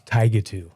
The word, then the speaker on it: Tigatu: You did, which was amazing, because even our parents at times still say it incorrectly. It's Tigatu.